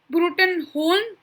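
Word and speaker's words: Bruttenholm: tell you guys is his name is professor trevor bruton broome i think that's the way it's pronounced it could be brewton hole but from what i could find it's pronounced broom at least b-r-o-o-m if you guys know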